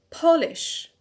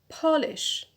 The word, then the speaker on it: polish: next verb is the verb polish polish as you can hear the stress is on the penulta pinal that is the second from the end on paul why because it is